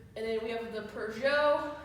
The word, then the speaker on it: Peugeot: And then we have the Peugeot. It's French, you don't pronounce the T.